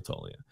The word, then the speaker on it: Toglia: toa's Whatchamacallit up here is it toia or toglia toia okay I've been I actually looked it up I told him I would look it up and I would say it right if he covered that day for me and he did so from now on it's Michael toia all right so it